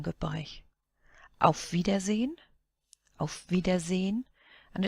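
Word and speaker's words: Auf Wiedersehen: A vidazine of vidazine. And it's pronounced almost as if there wasn't an e at the end.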